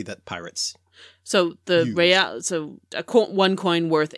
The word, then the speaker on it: real: Well, they refer to an actual Spanish coin that was commonly used at the time that was worth eight, I guess it's pronounced reals, which is royals, mm-hmm.